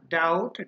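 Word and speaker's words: doubt: যদি একসাথে থাকে তাহলে সেই ক্ষেত্রে বি এর উচ্চারণ হবে না চুপচাপ থাকে যেমন না ডাউট ডাউট না ঠিক আছে আচ্ছা এরপরে যেটা আমরা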